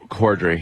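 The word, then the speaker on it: Corddry: Cordry? Yeah. Cordry, yeah.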